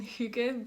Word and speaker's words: hygge: It's a U. So it's not a U, as many people say, it's an U sound.